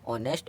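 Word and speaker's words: honest: इसी तरह इसको पढ़ेंगे ऑनेस्ट और। अब आते हैं आई एंड जे, कभी भी साइलेंट नहीं होते हैं, कहीं भी आ गए, अगर वर्ड में आ जाएं तो इनको पढ़ते ज़रूर हैं।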